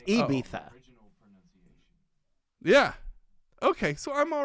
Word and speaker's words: Ibiza: i was criticizing you the i you say ibiza it's ibiza yeah okay so i'm all right i'm off